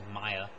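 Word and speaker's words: Maia: is how I found out Gand was a Maya that's how you pronounce it Maya um okay so so the elves are Immortal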